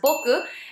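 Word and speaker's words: 僕: the time of Meiji era it was already pronounced as Boku and used mostly among students who were also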